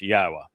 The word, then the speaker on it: Yahweh: It begins Yahweh. And that is the proper pronunciation of the name of God as directed by his Torah, his teaching regarding our Haya existence and even our Shalom restoration.